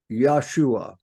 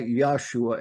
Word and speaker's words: Yahshua: His name is a Hebrew combination of words meaning Yah is salvation and pronounced Yahshua. I'll tell you why Yahshua and not Yeshua in a minute.